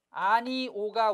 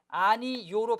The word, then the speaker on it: 아니오: 그래서 이 아니오는 실제 발음이 이제 발음이 두 개라는 얘기입니다. 아니오가 원칙이나 아니요로 발음하는 것도 가능하다는 얘기입니다.